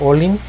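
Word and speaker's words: ollin: Entre ellas está olin, que es para esto esta doble L sigue manteniendo su alargamiento en la pronunciación. Entonces es olin, quetzpalin o quilin.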